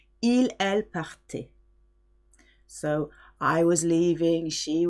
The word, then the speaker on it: partaient: The last one sounds like the first three, even though it's got ENT at the end. It is silent. Ils, elles partaient.